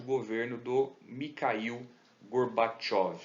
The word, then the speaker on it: Gorbachev: A derrocada da União Soviética ela começa a ser divulgada mundo afora durante o governo do Mikhail Gorbachev. Está escrito Gorbachev, mas se pronuncia Gorbachev.